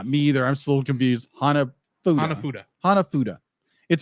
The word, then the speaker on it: hanafuda: played in this played in this movie hanafuda hanafudu hanafudu hanafuda hanafuda okay hanafuda I know how to pronounce it because that's what Nintendo made when